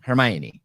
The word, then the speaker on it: Hermione: summer looking girl hermione how do you say it hermione the way it is i always said hermione no hermione is the way she says it in the movies look it up i